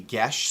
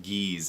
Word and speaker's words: geas: how it's pronounced it's gesh it's like Irish or Gaelic or Celtic or something like that but it's not geez as a lie here